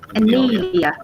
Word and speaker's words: Anelia: Anelia. Anelia. Yeah. You say it like Daniela without the D.